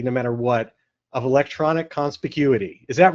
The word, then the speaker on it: conspicuity: us to this word that I can never pronounce properly no matter what of electronic conspicuity.